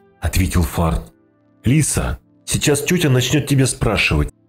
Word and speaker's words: Лиса: «Ой, извините, меня Лиса зовут. С ударением на «и», – уточнила она.